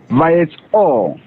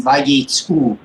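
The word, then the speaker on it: וַיֵּצְאוּ: Vayetzo. That's a shuruk, not a cholam. Vayetzu.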